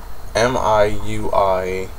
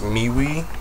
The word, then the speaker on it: MIUI: have just flashed the Mi I UI ROM now I think it's pronounced miwi and I believe I